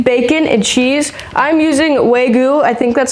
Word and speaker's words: Wagyu: I'm using Wagyu. I think that's how you pronounce it.